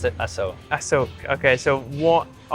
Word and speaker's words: Asoke: They pronounce it Asoke.